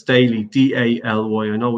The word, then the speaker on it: Daly: The website, Jason, we go to the website, Daly Ireland, and it's Daly, D-A-L-Y. I know it's spelled a lot different, a lot around the world.